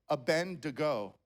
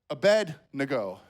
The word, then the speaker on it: Abednego: So my whole life I've said Abednego. Pastor Jeff likes to say, to bed we go, apparently. I heard the message last week, right? It's Abednego.